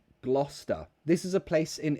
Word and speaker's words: Gloucester: how do you pronounce Gloucester this is a place in England yeah it says Gloucester but we don't say cesta it's just Gloucester Gloucester again schwa Gloucester oh great question